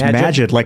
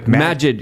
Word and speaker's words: Majid: Oh, it's Majid. Majid. Yeah, Majid talks about this in detail, but it's a conversation that a lot of people aren't ready for. You'll always remember Majid's name because it's like magic.